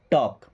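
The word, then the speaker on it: talk: टॉक में एक letter silent है, कौन सा? एल, टॉक।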